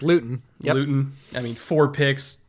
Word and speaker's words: Luton: they're the jags and jake lewton or luton or luton however you pronounce it it's luton i mean four picks